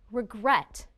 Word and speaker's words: regret: which syllable is stressed listen again regret the second syllable is stressed the second syllable is